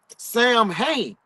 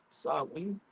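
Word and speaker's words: Samhain: Sam Hayne are pronounced sen.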